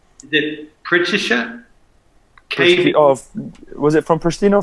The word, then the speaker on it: Pristina: Pronounce it? Is it Pristina? Was it from Pristina or from Germany? No, from Pristina, you're right.